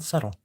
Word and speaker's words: subtle: Mostly smelly, soggy, and subtle. Very subtle. I love saying subtle because you don't have to say the B. You don't have to pronounce the B at all.